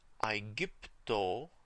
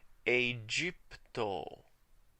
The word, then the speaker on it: Aegypto: The G was hard because G's in the restored pronunciation always make a G sound. But in the ecclesiastical pronunciation, whenever G is followed by an E, an I, or even a Y, it's pronounced J, the soft G.